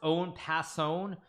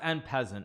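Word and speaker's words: en passant: It's pronounced own passon. No, it's pronounced en peasant. XQC speaks French. He's like, he's French is his main language. If he says en peasant, he knows how to pronounce it better than anybody else.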